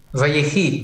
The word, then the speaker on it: Vayechi: VaYechi. VaYechi. Okay. VaYechi. I think that's about as close as I can get. All right, very good. And which means, and he lived, right? VaYechi.